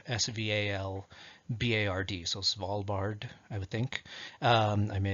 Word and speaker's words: Svalbard: I know it's spelled Svalbard, so Svalbard, I would think.